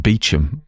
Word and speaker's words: Beauchamp: It's a French-looking name, but a lot of French names like Beauchamp get pronounced Beecham, you know.